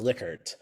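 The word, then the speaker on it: Likert: are liquer items so a lot of people pronounce it lyer they're actually pronounced liquer um so uh so hopefully now going forward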